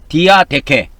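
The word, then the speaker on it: διαθήκη: 그다음에 헬라어로는이 언약을 디아네케라고 해요. 디아 디아데케 디아데케라고 이렇게 발음을 합니다.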